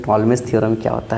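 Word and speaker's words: Ptolemy: टॉलमेजस theorem क्या होता है? देखिए दिखा रहे हैं। टॉलमेज पी साइलेंट होता है।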